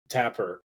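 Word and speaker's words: Tepper: Because if you look at Carolina, ever since Tapper, right? That's how you pronounce his last name, Dave, the owner.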